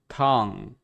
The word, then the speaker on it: tongue: You're really trying to pronounce that ng in tongue and the p in tip. An American wouldn't really put that much effort into pronouncing the ng at the end of tongue or the p at the end of tip.